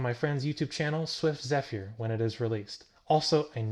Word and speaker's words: Zephyr: friend's YouTube channel, Swift Zephyr, when it is released. Also, I know that's not how you pronounce Zephyr, but he insists it being pronounced this way.